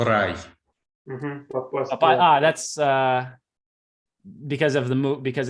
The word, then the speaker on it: рай: Рай. Oh, рай. Рай is heaven, like paradise. Yeah, like where you go after you die is рай. Рай. Попасть в раю. Попасть в рай.